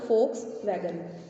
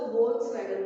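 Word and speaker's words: Volkswagen: फोक्स वैगन होती है, लेकिन इसकी करेक्ट प्रोनाउंसिएशन उनको नहीं आती है, वो इसको वोल्क्स वैगन बोलते हैं। जबकि इसकी करेक्ट प्रोनाउंसिएशन क्या है? फोक्स वैगन। फोक्स मतलब पीपल्स कार, एक आम आदमी की कार को बोला जाता है फोक्स वैगन। क्योंकि जर्मनी में फोक्स को VOLKS लिखते हैं, इसलिए इस लोग जो है इसकी प्रोनाउंसिएशन गलत करते हैं, लेकिन इसकी प्रोनाउंसिएशन क्या होगी? फोक्स वैगन।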